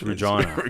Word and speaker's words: Regina: Peace River and then over to place called Regina that's how you say it that's it that's how you say really that's how it isn't there a Gina no it's rejoin a job and then I actually drove into the u.s.